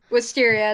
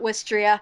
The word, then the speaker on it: Wisteria: Wisteria, not Wistria.